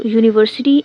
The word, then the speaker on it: university: Use a before university and union.